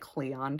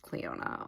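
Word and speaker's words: Clionadh: I don't I think I was saying like Clea or something it's pronounced Cleona okay I just i' never heard anybody pronounce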